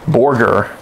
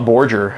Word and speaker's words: Borger: for a long time how do you pronounce her city name booger whatever okay yeah Borger got him yeah I would have thought Borger if I have a gun to my head you know that's how I've heard it pronounce that's how my mom's pronounce it so I've just ran with it yeah no I I'd